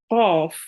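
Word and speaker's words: ق: Qaf. Make sure to read it with your mouth rounded a bit and with your throat.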